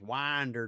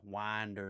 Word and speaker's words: Winder: Uh that's pronounced Winder Georgia. winder, not winder.